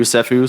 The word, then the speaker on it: Ceffu: The pronunciation is same as S Afu Sephu. So, your funds are safe with Sephu.